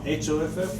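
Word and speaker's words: Hough: H-O-F-F? H-A-U, how do you spell it? H-O-U-G-H. A hue. Yeah, well, Let's- they pronounce it Hoff, I think, H-O.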